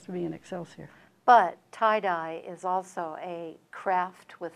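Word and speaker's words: Thai Die: In fact, the one that's coming out in December, Tie-Dye, and it's spelled T-H-A-I-D-I-E.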